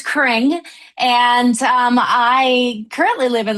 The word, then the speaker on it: Cring: It's pronounced Cring like Chris Kringle. Though it's spelled with a C. I've gotten everything else, but it's Cring.